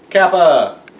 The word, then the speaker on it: Kappa: Then we have the lovely letter, and it looks exactly like K because it is the letter K, and it's pronounced Kappa.